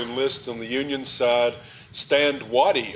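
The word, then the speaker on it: Stand Watie: Stand Waddy, of course, as we, and that's the way I pronounce his name. I've been told we could pronounce it differently.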